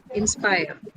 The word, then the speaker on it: inspire: Is it inspire? Yes, ma'am. Where is the stress in inspire? You tell me that first. Ma'am, Inspire. fire. Is it? It's inspire. So in and spire. Spire is your syllable.